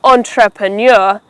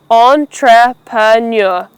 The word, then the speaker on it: entrepreneur: looking to become an entrepreneur, take care and don't miss out on any of these 4 syllables. Make sure you get the pronunciation right. Entrepreneur.